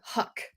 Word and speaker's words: Huyck: Willard Huck. Yes. Is that how you say his name? Yes. Because it's spelled like Hayek. Huyck. Okay. Yes. See, the Y is silent.